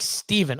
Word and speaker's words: Stefan: I pronounce it like Steven.